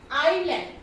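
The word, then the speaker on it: island: Letter S जो है कब साइलेंट रहता है, लेटर एस साइलेंट रहता है जब वो क्या होता है, आई के बाद जो ये आई वर्ड है, सॉरी आई अल्फाबेट है, इसके बाद जब भी ये यूज होगा तो क्या होगा, एस जो है साइलेंट रहेगा।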